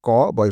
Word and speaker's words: কবি: কি বিশ্বাস হচ্ছে না এই দেখুন আমরা লিখি ক বয় রস কবি শেষে রসকারের জন্য ক এর পরে যে অ আছে সেটা উচ্চারণ করার সময় ওকারে পরিণত হচ্ছে ওই জন্য লিখছি ক বয় রস কবি কিন্তু উচ্চারণ করছি কবি ঠিক তার পরের উদাহরণটা